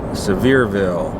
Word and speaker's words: Sevierville: side we're staying in a town called Sevierville at least that's how I've been told to pronounce it we're headed